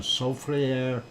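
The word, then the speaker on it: Soufrière: that it's on and it's a sofri air Hills and that is the French pronunciation and that is what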